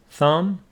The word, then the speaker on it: thumb: no ankle uncle and B after m is not pronounced thumb Lim lamb we talked